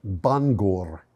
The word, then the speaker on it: Bangor: the site of a former paper mill near Bangor, Maine. Bangor is pronounced Bangor in Welsh.